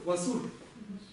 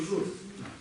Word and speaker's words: ཝ་ཟུར: Исходя из того, что у него написано васур, через S можно сделать вывод, что человек на каком диалекте говорил? Центральном. На восточном у него было бы зур.